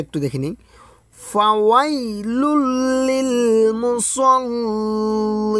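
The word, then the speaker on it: لِّلْمُصَلِّينَ: এখানে আবার একটু দেখে নিই, ফাওয়াইলুল লিল মুসাল্লিন। এখানে কিন্তু অনেকে বলে মুসাল্লিন, এখানে মুসাল্লিন বলা যাবে না। এখানে সদের উচ্চারণ সদ জবর স হয়, সদ ইস্তিলার হরফ, সদ জবর স বলতে হবে।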